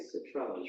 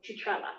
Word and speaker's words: Cetrella: Citrellas, right? Citrella? Chitrella, so it's CETR, yes. Citrella. There you go. Chitrella, that's how they pronounce it.